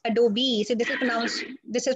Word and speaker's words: Adobe: It's not Adobe. It is Adobe.